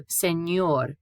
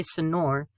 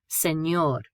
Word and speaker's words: señor: So, señor, we don't say senor, señor. Not compañero, compañero.